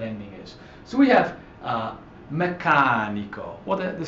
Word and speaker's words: meccanico: So we have meccanico. Well, the stress doesn't fall on the last syllable, on the second to last syllable rather. The stress falls on the third to last.